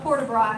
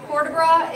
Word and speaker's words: port de bras: But you don't pronounce the T.